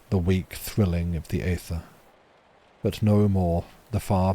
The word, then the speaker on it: aether: I saw questioning of my pronunciation of aether. Aether is still pronounced like ether, right, chat?